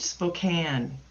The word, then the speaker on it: Spokane: And yes, you did say it right, Spokane.